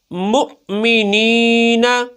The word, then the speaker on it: مؤمنین: ہے، مؤمنین، مؤمنون، یؤمنون۔ اب ان میں واو کو نہیں پڑھنا، واو کے اوپر حمزہ جو لکھا ہو حمزہ کو ہی پڑھنا ہے، ہجے میں بھی اور